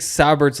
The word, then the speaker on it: Saubert: You're saying sour like Lindsay. No, there's no Sour. R. There's no R. There's never been an R. Just Saubert. No, Saubert. It's just 2 syllables.